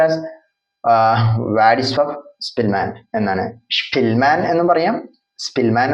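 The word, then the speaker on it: Władysław Szpilman: So Vladislav Spillman, pronounced as Vladislav Spillman എന്നാണ്.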